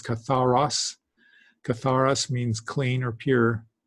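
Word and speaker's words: καθαρός: I think I mispronounced it in a previous lesson as kathartos. It's katharos.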